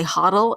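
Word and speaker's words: HODL: a whole other story why we spell it as a Cho DL instead of hold we say huddle in this space and we'll put a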